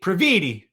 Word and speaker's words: Previte: the great samantha bravit pravidi rhymes with graffiti uh she's wonderful follow